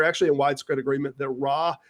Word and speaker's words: Ra: in widespread agreement that Ra is actually not pronounced as the ah sound, that it's more of a long A on the subject.